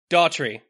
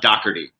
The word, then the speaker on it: Dougherty: Daughtry. No. Good try. It's Dougherty.